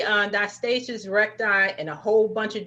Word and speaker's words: diastasis recti: thank you now i know people say on diastasis recti in a whole bunch of different ways you're the doctor how do we pronounce it yeah you got it right it's die diet stasis recti but it's funny because i have a lot